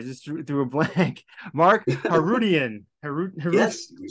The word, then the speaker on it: Harootian: Mark Harootian.